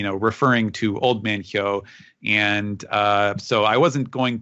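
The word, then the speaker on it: 豹: Leopard happens to be pronounced hyo in Japanese.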